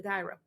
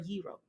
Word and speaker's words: gyro: I can get a gyro or a gyro depending on how you pronounce it I call it guy bro but go to these